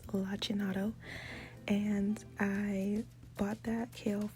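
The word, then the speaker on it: lacinato: and yes I had to look up the pronunciation because I was saying it wrong first but it's lachin and I bought that kale from Sprouts any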